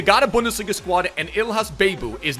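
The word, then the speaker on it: Ihlas Bebou: quincy promise kudos aryan robin and dumfries and ill has a babu by the way is how you pronounce it vamos or should i say lekker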